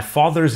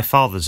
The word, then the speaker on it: father: Father ends in a simple schwa vowel, like father.